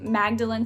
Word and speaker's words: Magdalene: bring back i mean magdalen starts the same way magnolia does with that mag at the beginning but it also ends in lin but spelled magdalene l-e-n-e